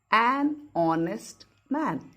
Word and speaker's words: honest: We don't say honest man. H is silent. So an honest man.